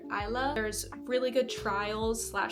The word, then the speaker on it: Isla: I think that Alex Astor actually pronounced her name Isla, but I pronounce her Isla.